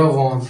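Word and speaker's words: 원: तो ये यहां पे वॉन कैसे? ये यहां पे इय साइलेंट होता है। ये वाओ वाला वोवेल लगा है। नीचे फिर नियन लगा है। तो ये बन जाएगा वॉन।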